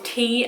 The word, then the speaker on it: Tea: far it follows tea i'm calling her tea not tear because her name is spelled t-e-a and where i'm from that is something you dunk your biscuit into and have for an evening meal so she is called tea she has a family